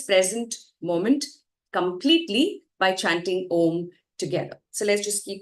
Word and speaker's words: Om: You inhale and then as you exhale you chant om with the three syllables oo m. And if you're able to feel the vibrations as you say m that's when you know you're doing it right.